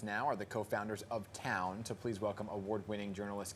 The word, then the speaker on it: Towwn: Yeah, joining us now are the co-founders of Towwn.